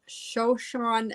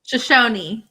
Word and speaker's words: Shoshone: all right jaclyn is enrolled with the northwestern shoshone nation is that pronounced right shoshon shoshone joshua thank you and lives in vancouver washington